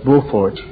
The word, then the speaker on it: Beaufort: They call it Beaufort down there, but it's Beaufort. That's the French pronunciation.